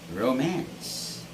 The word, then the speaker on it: romance: word is this word it's romance romance so this word has the stress on the second syllable mass and never romance but romance okay just like if i say i watched a comedy romance flick yesterday okay it's romance not romans remember the next word is